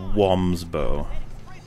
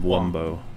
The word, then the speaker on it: Wumbo: or form uh but it's spelt with a like like bow and arrow and we've never said womb's bow it's always one of wumbo yeah i'm glad people